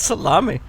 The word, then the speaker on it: Salemme: How do you spell it? Salemme. That's salami.